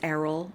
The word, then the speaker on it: Errol: And I know it's Errol. I will do my darnest to pronounce it correctly. Um, I can't guarantee that I won't say Earl now and then, especially if